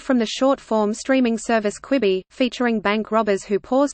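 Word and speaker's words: Quibi: the short-form streaming service kwibi featuring bank robbers who pause to watch a quick show on their phone screens made one thing clear how to pronounce kwibi it's kwi b not qui b Amazon Prime video and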